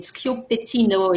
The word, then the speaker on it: Schioppettino: And it's, when you think about, if you think about the way of pronouncing it, Schioppettino, it makes like a psh, almost, and it comes from, as a matter of fact, popping.